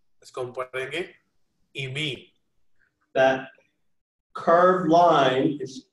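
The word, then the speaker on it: εἰμί: So the first person singular form is pronounced eimi. और जो first person singular form है उसको pronounce करते हैं eimi. Notice that an epsilon iota and an iota are pronounced exactly the same.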